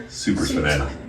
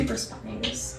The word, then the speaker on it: supraspinatus: Okay, and the other one was your supraspinatus. Yeah. I don't know how you say it correctly. Supraspinatus.